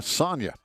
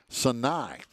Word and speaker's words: Sinai: going to be uh sonia oh i'm sorry sinai i always get that name wrong sinai wilson over at